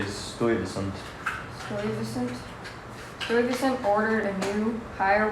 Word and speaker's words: Stuyvesant: When the colonists complained, Stuyvesant retorted, "I'll cut off your head and What?